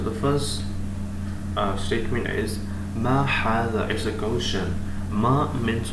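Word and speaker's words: هذا: So the first statement is Ma hada is a question.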